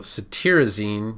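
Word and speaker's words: cetirizine: a little bit the satyrizine it's spelled t-i-r but you pronounce it t-e-a-r so satirizing you can think of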